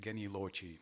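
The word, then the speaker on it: genius loci: yum yum and then at Gani low tea or nowadays they say it Kenny low Chi they they use the Italian pronunciation and what does it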